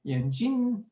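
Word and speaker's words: 眼睛: Here you've got a nice word called yanjing, and it means eyes, some beautiful eyes here, right? If you pronounce it a bit differently, yanjing, it means glasses.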